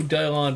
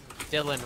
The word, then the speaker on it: Dylan: I have the ability to phase shift, and hello, Dylon Ring Productions. Dylan Ring Productions. Get the pronunciation right. I know, but I like pronouncing it Dylon because it sounds fancy.